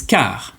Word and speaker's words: car: And so when the C is followed by an E or an I, it's going to be pronounced S. But if it's followed by any other letter, it will be pronounced C.